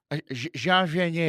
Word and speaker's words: Jean Vanier: Is it Jean? Jean Vanier. Jean Vanier. From L'Arche. That's how they told me to say it.